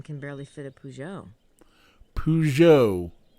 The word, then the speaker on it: Peugeot: Peugeot, not Peugeot.